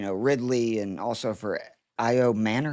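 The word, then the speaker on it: Ayomanor: Uh, so better things are ahead for, you know, Ridley and also for IO Manor. How do you say his last name? IO Manor.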